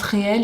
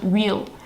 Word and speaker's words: reel: J'ai vu un post sur Instagram qui passait de quelqu'un qui s'offusquait parce que tout le monde prononce réel et qu'il faut dire real.